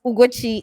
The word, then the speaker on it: Ugochi: My name is Ugochi. It is Ugochi. And He for people mother who evil. follow me, He butchered the spelling.